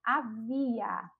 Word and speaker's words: havia: Agora o verbo havia. Havia vem do verbo haver, e aí está na terceira pessoa do singular. Havia, a gente já percebe que a sílaba tônica é a sílaba vi.